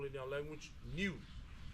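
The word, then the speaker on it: niu: The stages that I'm going to share is something we call in our language new. Okay, pronounced like N-E-W, but spelled N-I-U, new, which is the green ones or the young ones.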